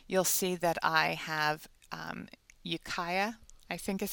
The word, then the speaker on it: Ukiah: i come here you'll see that i have ukiah i think is how it's pronounced in mendocino county california usa so what